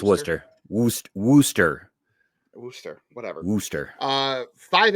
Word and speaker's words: Worcester: The It's I'm told it's pronounced Worooster. It's spelled like Warchester, but it's spelled Yeah, it's Worcester. Woo. Worooster.